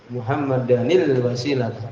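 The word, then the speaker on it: مُحَمَّدًا: Wal Fadilah kan gitu ini muhammadan di sini dengan eh fathah tanwin ini kalau disambung muhammadanil wasilata paham itu bacanya demikian Ati muhammadanil wasilata Wal Fadilah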